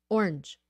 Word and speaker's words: orange: that orange Orange orangee it's orange it's single try to make it a single syllable orange orange okay P